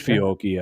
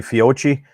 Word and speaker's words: Fiocchi: Is that how you pronounce it? I think it's Fiocchi actually, but yeah, that stuff.